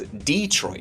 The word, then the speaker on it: Detroit: Take Detroit, which many locals will pronounce as DEE-troit. Is it Detroit for you or DEE-troit? It's DEE-troit for me cuz I'm from Detroit.